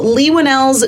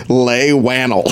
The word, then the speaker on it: Leigh Whannell: Inside the Actors Studios' James Lipton, and also Leigh Whannell's deal with Blumhouse.